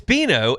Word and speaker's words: Bino: I will say Dino at some point, but it is Beano.